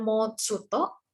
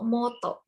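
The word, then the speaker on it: もっと: Renato jadi mouth Suto Apakah ini dibaca dengan mouth Suto enggak ya teman-teman jadi kalah jadi bukan dibaca Mal tutup nah ini tuh ada hiragana tshu kecil itu dibacanya itu motto jadi ini tuh untuk membuat double jadi kayak mendobelkan mendobelkan huruf di belakangnya nah nih karena sekecil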